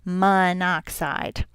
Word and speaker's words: monoxide: And there's only 1 oxygen, so we say monoxide. You kind of we kind of drop that O to make it easier to pronounce.